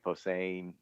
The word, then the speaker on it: Posehn: The only two I can really remember is, I think it's Brian Posehn.